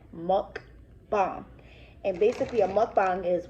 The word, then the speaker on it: mukbang: a mukbang is it's it's pronounced muck thong so m u k b-a-n-g monk bomb and basically a mukbang